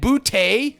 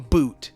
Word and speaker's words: Boutte: And then, so you're playing roulette with these three guys, the Henry, Bourne, Douglas, and Boutte. Let's call him Boot. I know that's not how you say it, comment guy.